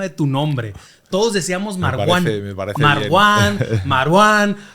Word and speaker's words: Marwán: Entonces se le he puesto, se dice Marwan. La W es como pronunciación inglesa, como una U normal, ¿no?